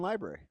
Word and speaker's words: library: February and library. Yeah. Library? That's not how you say it.